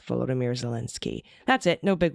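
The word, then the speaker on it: Volodymyr: doubt prefer if you did not pronounce his name in its Russian version Vladimir but the Ukrainian version vomir as the long O's like both vomir zalinski that's it no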